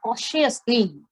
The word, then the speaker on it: cautiously: Then he moved very cautiously. Now see the spelling and see the pronunciation of that word. Cautiously. We will not use the T as a T.